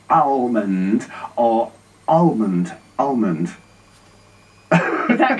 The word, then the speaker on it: Almond: Almond.